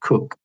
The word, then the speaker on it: Coke: Yeah, spelt Coke, C-O-K-E, but pronounced Cook, who opposed all these absolute ideas being expressed by James, and they came into conflict with each other, not surprisingly.